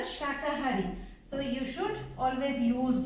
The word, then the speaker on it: शाकाहारी: Here I have seen many students, they used to write it sakahari, and they while pronouncing they just say ki sakahari, but they used to write it sakahari, but it's a wrong. The correct one is a shakahari.